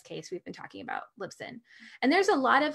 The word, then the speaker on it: Libsyn: then I would definitely look at something like Libsyn for sure. Okay. So I'm going to spell that out for people, because I know they're going to be like, Lib what?